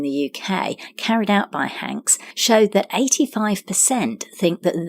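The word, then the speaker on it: Hanx: and women and their vegan reports Business Insider hank's which is spelt Haan X is the brainchild of gynecologist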